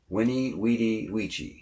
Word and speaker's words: veni vidi vici: season didn't speak English the quote was something like veni vidi vici or I've heard it pronounced Winnie weedy Ouija but since the only